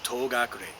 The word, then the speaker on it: Togakure: So, being a door that was used to hide, to is door, gakure is the way of pronouncing it, Togakure, door that is used to conceal oneself, or door that is you hide behind.